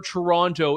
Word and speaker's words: Toronto: did the Toronto I you're supposed to say toron I I I never pronounced the second te I apologize to the